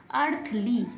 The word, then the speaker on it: earthly: ई को नहीं पढ़ेंगे तो क्या बन गया? अर्थली।